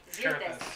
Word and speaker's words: Xerxes: Xerthus. So it's Xerthus. Because it's spelled with an X, so it's Xer. Thus. It's almost like saying shirtless, but not quite.